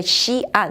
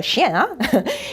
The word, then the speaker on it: Xi'an: Attention, la prononciation c'est Xi'an, c'est pas le chien.